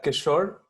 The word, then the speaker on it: Kishore: say your first name it's a kishore like seashore t-shirt yeah that's how i